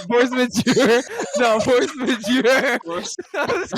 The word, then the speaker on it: Force Majeure: I felt like, just like, because I haven't seen Force Maguire, however you say it. I know that's not how you pronounce it. Force Majeure.